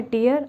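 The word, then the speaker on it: tear: ये है टीयर और ये है टेयर। टीयर होता है आंसू और ये होता है फाड़ना।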